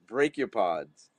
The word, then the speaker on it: brachiopod: Brachiopods.